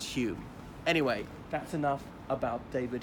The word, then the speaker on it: Home: a philosophy faculty so his surname was was spelt home but pronounced Hume he then started to